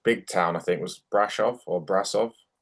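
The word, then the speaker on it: Brașov: town I think was Brasov or Brasov. I think it's pronounced Brasov, but It looked the like a rink big was barn.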